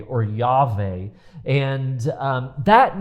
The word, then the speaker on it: Yahweh: um older Scholars thought that it should be pronounced Jehovah it has now been rejected that that was